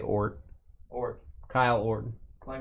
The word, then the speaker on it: Ort: I always say his name wrong. 35 of 99. Milwaukee. Nice autograph there. Joseph O-R-T.